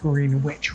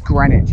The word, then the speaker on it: Greenwich: thank you so much pretty sure i've um pronounced green witch wrong pretty sure it's greenwich isn't it that's really good